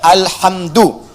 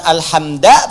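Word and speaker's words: الحمد: Dibacaannya alhamdu, bukan alhamda pakai fathah atau alhamdi pakai kasrah. Ya, apa bacanya? Du, alhamdu pakai dhammah.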